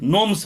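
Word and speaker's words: gnomes: Fairies and नोम्स, नोम्स पढ़ेंगे, इसको ध्यान दें, ये जी साइलेंट है यहाँ, नोम्स पढ़ेंगे।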